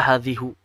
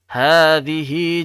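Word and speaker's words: هذه: Jadi kalau ketika kita bacanya waqaf, hadhih, tidak dibaca hadhihi jahannam. Tidak dibaca hadhihi ya, tapi dibaca hadhih.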